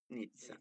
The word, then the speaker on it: Nizza: Nizza. Nizza, come pizza.